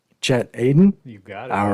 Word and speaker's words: Chet Aden: so without further ado i make sure i pronounce the last name correctly chat aidan you got it all right chad aiden welcome